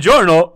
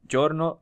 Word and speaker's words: Giorno: Giorno, also Giorno. I'm calling him Giorno. I think what is Giorno, right? If I wanted to pronounce it like people pronounce it in Italian.